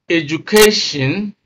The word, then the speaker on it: education: determine stress for example when you have a a word ending in the suffix i o n such as education then the rule is the same for a word that ends in I stress is placed on the second syllable from the end of the word now let's look at